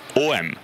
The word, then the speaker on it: H&M: Donc si vous voulez aller chez H&M, vous dites OM en Suède.